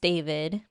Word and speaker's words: D4vd: It's spelled really weird, but it's it it's pronounced David.